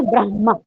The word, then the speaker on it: ब्रह्मा: यदि बताना है तो आप बताइए ब्रह्मा ह पहले आएगा ब्रह्मा है ना तो यह